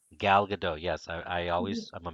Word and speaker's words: Gal Gadot: um how do you say her name uh gal gadot gal gadot yes i always i'm a master of screwing